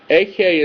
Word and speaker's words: Ahayah: Ahayah is how it's pronounced and how it's written in the JPS Tanakh.